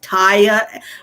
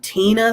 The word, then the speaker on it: Tia: was i was pronounced taya i'm still called tina sometimes you know and rhyme and i'm like no it rhymes with chia pet it's tina you know